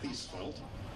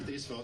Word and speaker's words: Thiesfeld: I am Thiesfeld. And if you see my name in writing and wonder, how do you pronounce that name? Just think of seatbelt.